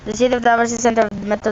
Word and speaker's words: Davao: a gentle vowel ending, although later pronunciation is with a hard V or B. The Klata or Gyangan or Jangan call it Davao, and the Tagabawas call it Dabo.